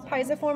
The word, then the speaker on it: pisiform: Pisiform or pisiform is fine. Then go back over. This bone rhymes with thumb.